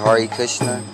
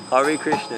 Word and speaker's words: Hare Krishna: That's how you say it, Hare Krishna? Hare Krishna, exactly.